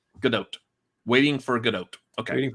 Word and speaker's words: Gadot: You do pronounce the T. Godot.